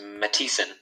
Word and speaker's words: Matson: It's pronounced Mattison.